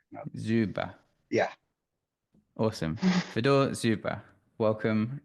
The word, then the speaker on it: Dzjuba: It's pronounced as Dzjuba. That J confuses a lot of people, but it's a U, Dzjuba, basically. Dzjuba.